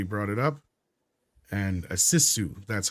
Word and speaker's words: sisu: night or somebody brought it up and a sisu that's how it's pronounced I guess okay this is news to